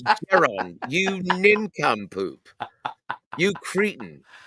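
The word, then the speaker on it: Jaron: It's Daron.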